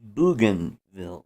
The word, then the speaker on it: Bougainville: was talking about Grant was that uh it's pronounced Bougainville yes if you if you watch uh uh